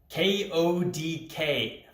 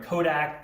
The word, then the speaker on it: KODK: k-o-d-k finally i said it right i think i said everything from kodak to kodx to god knows what else i called this ticker today i just couldn't get it right i don't know why